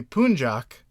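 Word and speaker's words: Puncak: it's a mountain okay and it's called It's pronounced apparently punjac but it's p u n c a k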